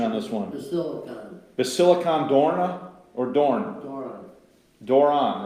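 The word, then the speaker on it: Basilikon Doron: Free Monarchs, and I need help on the pronunciation on this one. Basilicon Dorna or Dorn? Doron, right? Yeah. Basilican Dornan, right? Yeah, Basilicon Doron.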